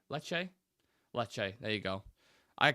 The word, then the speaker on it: Lecce: to be on smoke this morning leak it's pronounced Le leche leche leche there you go I can't pronounce an